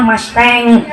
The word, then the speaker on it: Mustang: merek naon Pak Mustang masteng tulisannya kan musang bacanya masteng rokok masing sebungkus harganya